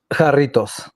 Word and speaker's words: Jarritos: Jarritos. Told you. Doritos. There we go. All right. Jarritos. I got that There right. we go. All right, Doritos. Okay. Jarritos, yeah.